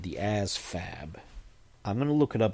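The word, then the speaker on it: ASVAB: Um, ASFAB, the Armed Services Vocational Aptitude Battery, ASFAB, and it's a V, not an F, but it's pronounced like ASFAB, like it's like it's an F.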